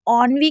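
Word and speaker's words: ennui: बहुत ही इजी है, बस आप यहाँ पर लास्ट वाले ई को साइलेंट रखिएगा। उसके बाद है ऑनवी। अब इसे ऑनवी क्यों पढ़ा जा रहा है?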